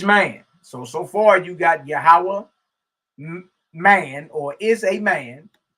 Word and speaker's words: Yahweh: Some say Yahweh, whatever. But that's how you spell it in Hebrew, okay? So Yahweh, some say Yahuwah, Yahuwah. You get all type of mispronunciations or pronunciations, right?